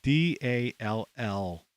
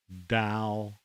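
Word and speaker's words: DALL-E: a form of a.i it's called da d-a-l-l dal or dal however you want to pronounce it dal ii there was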